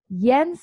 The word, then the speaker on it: Jens: Jens, am I pronouncing your name correctly?